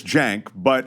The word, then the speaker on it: Cenk: And so my recollection is that he knows it's pronounced Cenk. 100% Ben Shapiro knows that your name is Cenk.